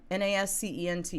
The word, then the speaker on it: nascent: force said that hey how do you pronounce this one nascent n-a-s-c-e-n-t basic nascent thank you the head of